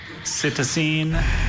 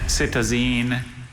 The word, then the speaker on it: cytosine: There are three variants. There's cytosine, cytosine, and citizen.